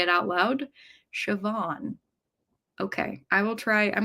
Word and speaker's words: Siobhan: Zach says, "So is pronounced Siobhan. It's one of those strange Irish spellings."